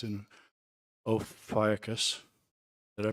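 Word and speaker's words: Ophiuchus: uh 20121 S3 is getting brighter it's in oakus did I pronounce that right Chris oakus did I pronounce oakus right ucus okay ucus all right well all right so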